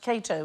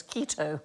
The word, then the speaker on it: Cato: The first man he killed was an actor who mispronounced Cato as keto on stage.